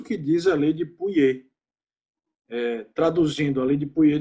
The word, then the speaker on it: Pouillet: Tem uma lei chamada Lei de Pouillet, né, que é de um francês, se escreve Pouillet, mas se fala Pouillet, que, na verdade, se você parar para pensar, é uma consequência da lei de Ohm.